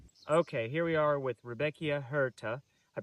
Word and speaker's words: Rudbeckia hirta: Okay, here we are with Rudbeckia hirta. I pronounced it wrong whenever I introduced this video,